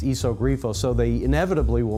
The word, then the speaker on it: Iso Grifo: on the trunk, and they don't realize that an I in Italian is pronounced like a long E, and that it's Iso Grifo, so they inevitably will mispronounce the name of the car.